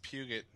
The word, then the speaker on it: Peugeot: It's pronounced Puget.